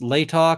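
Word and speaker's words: Latah: ways right stress Etc and I see it's pronounced Lata County and Washington Idaho are six miles apart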